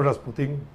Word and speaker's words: Rasputin: vamos a ver, en francés se escribe Rasputin. Rasputin. Sí. Rasputin. Raspu, la OU es U. Sí. La U, como la U nuestra.